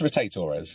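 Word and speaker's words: rotatores: muscles called the like rotate Torres and there's different pronunciations I might add before anyone anyone writes in and says why she was called it's rotate Torres okay just do it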